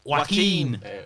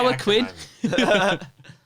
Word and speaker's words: Joaquin: Joaquin. Got it I wrong think. for I don't know. Joaquin. I think I said it Joaquin. much more Latino than it Joaquin. actually is. Joaquin Phoenix. Yeah, Joaquin.